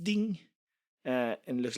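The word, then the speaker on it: 钉: It's pronounced ding.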